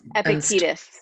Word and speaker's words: Epictetus: Laurie Santos and the ancient, is it Epictetus? Is that how you say it? Oh, Epictetus.